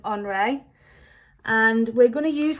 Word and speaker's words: Henri: So even though his name is spelt like Henry, because he is French, we call him Henri.